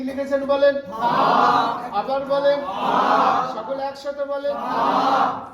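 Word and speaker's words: ب: আছে নাম নাম কি ম পাশে আকার লাগালে উচ্চারণ কি হয়ে যায় বা এরও নাম বা তবে এর উচ্চারণটা একদম সহজ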